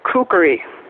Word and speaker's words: kukri: you guys know that it's not kukri, it's kukri. Kukri, 3 syllables, okay?